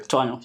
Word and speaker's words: Twaano: I know I didn't talk about Twaano. I don't know, that's how we pronounce it, right? Twaano, yeah. Twaano, yeah.